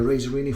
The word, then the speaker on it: Razorine: Third generation Ra Razerini or Razerin, whatever way you wish to pronounce it. So the official way will be Razerini because as you can see it comes from Italia.